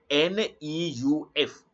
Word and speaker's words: neuf: In lesson 6, I taught how to mention NEUF so that it will mean 9, and how to mention it so that it will mean new.